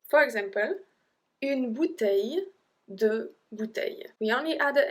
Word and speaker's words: bouteilles: For example, une bouteille, deux bouteilles. We only add a S, we don't even pronounce it, so it's une bouteille, deux bouteilles.